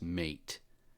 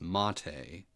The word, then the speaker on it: MATE: They should have a way to pronounce it because everybody says mate. And it looks like mate, but it is mate, like the tea.